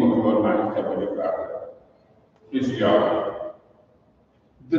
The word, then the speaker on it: Yahweh: So as represented by these four characters in Hebrew, it is pronounced Yahweh by the Hebrew-speaking people.